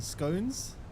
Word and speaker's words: scone: scones. It's scone. Not scone. Scone like gone.